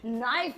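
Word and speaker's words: knife: I know you और जैसे मुझे कहना है नाइफ नाइफ माने चक्कू नहीं ये तो छाई हो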